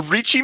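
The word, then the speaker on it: Ricci: A reichi manifold I think is how you pronounce it, but it's spelled R I CCI if I recall correctly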